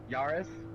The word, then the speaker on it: Yaris: right no it's different you gotta pronounce the a yaris so do i call